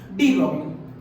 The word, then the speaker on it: de Broglie: डी ब्रॉगली, और इसे बहुत से लोग डी ब्रॉगी भी कहते हैं। डी ब्रॉगी, एल को साइलेंट कर देते हैं तो डजंट मैटर, तो